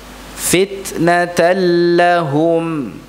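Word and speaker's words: فِتْنَةً لَّهُمْ: Fitnatan lahum. Ya, tulisannya begini. Ya, ada tandanya. Dibaca begini, fitnatan lahum. Ya, tasydid lamnya.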